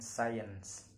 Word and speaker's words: science: It's usually silent after the letter S. For example, consist, scene, scenario, and science.